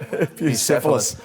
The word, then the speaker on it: Bucephalus: How are we pronouncing this? The gelded son of... Bucephalus, I think, is the right... Bucephalus.